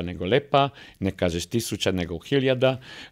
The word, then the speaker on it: lepa: a ne hrvatski eh i znači ne kažeš liepa neo lepa ne kažeš tisuča neo hiljada ne kažeš vlak